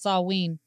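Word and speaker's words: Samhain: of autumn September 21st saween even though it's spelled with an M it's pronounced Sween um Halloween the Catholic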